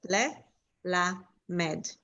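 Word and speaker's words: ללמד: It becomes a short eh. Okay, and then I would say le, short le, and then I would break this one down, la, med. So le, la, med, because it's impossible for me to blend them in.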